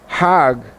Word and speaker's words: Hajj: around the circles now Hajj is a pilgrim to Mecca Haag is the Egyptian pronunciation hug in Hebrew means